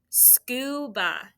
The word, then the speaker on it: scuba: it scuba all right so sku sk how would you do that first syllable sk and then ba scuba you hear that uh sound it's not that short u at the end okay scoop skew and